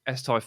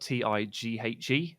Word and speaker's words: Tighe: Yeah, on Twitter is Tighe Football, and Instagram is the same. My surname is spelled Tighe, so every letter following the I is totally and utterly useless.